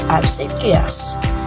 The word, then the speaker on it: obsequious: It's pronounced with absus. Absuas. Obsequas is an adjective means excessively eager to please or obey often to gain favor characterized by fing or survive behavior.